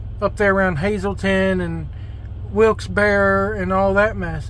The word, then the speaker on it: Wilkes-Barre: there around Hazleton and Wilkes-Barre and all that mess is it Wilkes-Barre or Wilkes-Barre I've heard it pronounced both ways I think it's wilkesbury but anyway so now